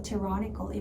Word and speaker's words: tyrannical: tyrannical은 폭력적이란 뜻인데 이게 ty라고 tie가 아니고 발음 기호를 보셔야 돼요. ti여서 tyrannical이 맞습니다.